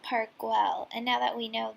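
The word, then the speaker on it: Park Güell: a little bit too so apparently is pronounced park well and now that we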